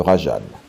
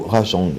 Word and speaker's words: Rajang: et cette fois-ci direction le Rajan ou rajang j'ai cru comprendre qu'il y avait deux prononciations possibles à titre personnel je préfère l'appeler rajang c'est une créature très agressive